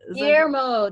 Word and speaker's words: Guillermo: who's also the demon slayer vampire slayer yeah guillermo is it guillermo thank you oh my god i love how